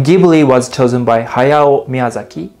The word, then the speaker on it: Ghibli: So let's pronounce it together as Japanese as possible. Ghibli. Ghibli.